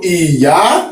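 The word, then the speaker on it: Ìyá: So Iya, it means do mi.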